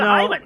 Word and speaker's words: Heiman: No, it's actually H-E-I. Like I would have said Heiman, but I googled it, and it turns out you pronounce it Heiman.